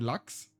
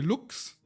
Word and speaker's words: Lux: I mean Lux also gets a little bit differently pronounced. I had like people most people call me Lux. Um, some call me looks, some call me looks. So, it really depends. It depends on which country you're from.